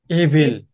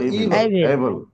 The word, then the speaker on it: evil: একটা শব্দ আছে EVIL। হ্যাঁ, EVIL বলেন তো এটা কি? এভিল। হ্যাঁ, এভিল আমরা বলি। উচ্চারণটা ইভিল।